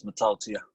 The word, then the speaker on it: Mata'utia: Yeah, hi, the way to pronounce my last name is Mataltia.